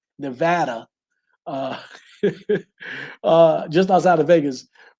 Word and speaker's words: Nevada: Funny, my wife and I, because we live in let me say it right, Nevada, uh, just outside of Vegas.